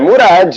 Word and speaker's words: Murad: Mas é Murad, o D não é mudo, não é inglês, né?